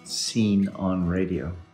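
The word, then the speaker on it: Scene on Radio: very good podcast called Seen on Radio. It's a terrible name for a podcast. It's spelled S-C-E-N-E, Seen on Radio.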